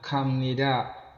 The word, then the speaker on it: 갑니다: Ga ditambah bemnida sama dengan kamnida artinya pergi. Kenapa di sini B dibacanya M? Karena sudah ketentuan dari sananya.